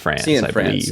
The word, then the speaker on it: Cianfrance: Cianfrance.